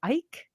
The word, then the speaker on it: Eick: Moore and David, is it Ike? EICK? I have no, Yeah. Ike. I I'm think going to it's pronounce it Ike.